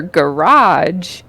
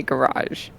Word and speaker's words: garage: how do you say garage? Garage. Garage. Garage. I guess I do a hard j. Garage. Hard j at the end. Okay, and the garage. first syllable, the first vowel, the A. Ga.